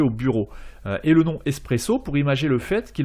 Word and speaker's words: espresso: s'écrit b ureau et un expresso se dit en italien espresso avec un s à la place du x et en faisant le